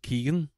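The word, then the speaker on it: Keoghan: starring Barry Keegan and it is pronounced Keegan um Jacob El elordi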